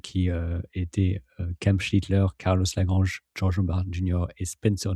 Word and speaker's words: Lagrange: Par contre, c'est Lagrange, faut le prononcer l'espagnol.